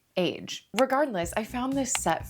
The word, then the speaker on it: Aje: How to pronounce A-J-E. Oh, it's just Age.